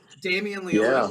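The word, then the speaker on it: Damien Leone: not into those kind of films me neither Damian Leon yeah that's how you say his name the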